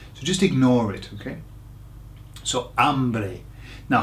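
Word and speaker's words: hay: lots of people say hey okay but it's not hey it's I exactly the same as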